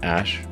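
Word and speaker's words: Æ: x um and then the ae is like pronounced ash yeah and then a12 a12 is my contribution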